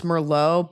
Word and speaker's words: Merlot: I Marriott does feel weird just like how it's not Merlot, it's Merllo, but it is Moette and not Moa.